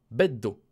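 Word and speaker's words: ベッド: Ça se termine avec un D. On dira beddo. Beddo.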